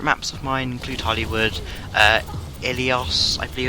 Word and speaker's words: Ilios: A few favourite maps of mine include Hollywood, Ilios, I believe it's pronounced, Volskaya Industries, and Watchpoint Gibraltar.